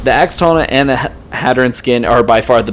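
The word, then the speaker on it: Hadern: First off, the pros, they added the Hattern, but I think the game pronounces it Haddern, something like that. I always called it Hattern.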